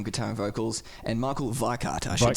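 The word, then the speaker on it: Weikath: The original lineup being Kai Hansen on guitar and vocals, and Michael Weikart, I should say. While we're on the pronunciation.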